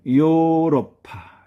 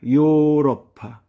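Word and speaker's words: ヨーロッパ: 다음은 요러파. 요러파. 여기서도 장운보 바가 들어가 있습니다. 요러파. 요러파. 유럽이란 뜻입니다.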